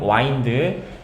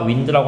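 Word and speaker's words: wind: 자, 그래서 오리온 자리에서 빛나고 있는 베테기우스를 네가 볼 때 유분 이거 발음 와인드 알겠죠? 윈드라고 하면 안 돼.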